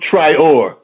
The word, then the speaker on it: Traore: You can say Traore, but Traore.